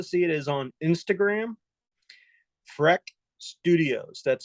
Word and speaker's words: Frech: place to go see it is on Instagram, Freck Studios. That's spelled FRECH Studios, STUDIOS.